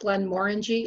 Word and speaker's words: Glenmorangie: we went to uh glenmorangie which uh you may have heard of they they're a huge um distiller and they they distribute widely um and it is pronounced glenmorangy like orange because they said it's